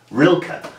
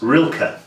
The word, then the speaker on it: Rilka: girlfriend pointed out that it's probably pronounced um well she didn't say it quite like that but real ka rilka so i think that's how it's supposed to be pronounced rilka but for me it will always be rilk um which is wrong but you know it's